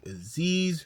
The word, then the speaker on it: Aziz: It's your boy Aziz, rhymes with disease.